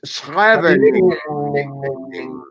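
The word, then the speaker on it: Scheveningen: Schreveningen. it doesn't stop. Dutch. It's Schreveningen. I ran out of syllables.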